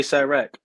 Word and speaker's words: Sirach: Just say Sirach.